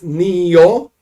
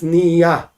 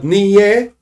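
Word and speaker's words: נהיה: So this blessing is Niyo with a komatz. Now, if you do not use Ashkenazic pronunciation, if you use regular, like Israeli, Sephardic pronunciation, is Niya. That's Niyo. It's Niya. But Niye, no. Niye is also in the future.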